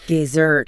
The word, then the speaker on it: dessert: Another classic one is dessert. The dry sandy place. Dessert versus dessert. The yummy thing you eat after dinner.